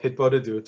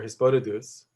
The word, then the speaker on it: hitbodedut: practice personal prayer called hitbodedut or hispotidus which is a hebrew word with the modern hebrew pronunciation or the yiddish pronunciation his bodhidut or his buddhidus but the word means